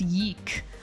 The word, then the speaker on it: Y2K: It's not pronounced Y2K. I know what the fuck I'm talking about, okay? It's pronounced yeek. I'm yeeking out.